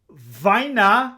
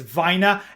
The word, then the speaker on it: Vajna: mario kassar and andrew vaina yes it's vina after 30 years of mispronouncing that and giggling like a little middle schooler i finally looked it up how to properly say it andrew why now and